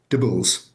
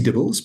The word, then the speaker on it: DIBELS: It's dibbles. It's like cheesy dibbles, but without the cheesy bit.